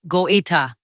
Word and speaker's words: Goïta: 4:56 a.m., the first reports came from near Kati, the military base where President Assimi Goïta, pronounced Go-ee-ta, was headquartered.